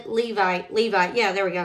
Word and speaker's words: Levi: he said what about your brother Aaron the level Levi Levi yeah there we go said it right I